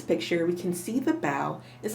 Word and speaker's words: bao: a kitten here and she tells us bow like bow not like bow that goes in your hair amy wu and the